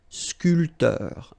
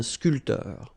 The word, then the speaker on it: sculpteur: This P here is not pronounced. So, sculpteur, un sculpteur.